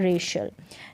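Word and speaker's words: racial: रेसियल भी नहीं पढ़ेंगे, हम पढ़ेंगे श। क्या पढ़ेंगे? श। तो रेशल, क्या है? रेशल। जाति संबंधी बात की जाती है वो होता है रेशल। तो इस तरीके से यहाँ पर सी का उच्चारण श है।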